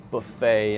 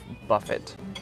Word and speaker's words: buffet: instead of ballot right buffet instead of Buffett because it's comes from French it's the rules of French pronunciation and if there's an